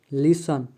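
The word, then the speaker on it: listen: में S silent है T silent शब्द के अंत में आए हुए टी ई एन या टी सी एच का टी प्राय साइलेंट होता है जैसे लिसन लेच सफन इन सभी वर्ड में टी साइलेंट है यू साइलेंट शब्द के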